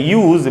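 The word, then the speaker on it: use: तो यूज़ को अगर आप वर्ब की तरह यानी क्रिया की तरह यूज़ करेंगे तो इसका उच्चारण होता है यूज़।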